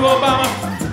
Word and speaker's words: Obama: titties I went to Obama said can I your mama he said My Name's Obama it rhymes with Mama so I I roll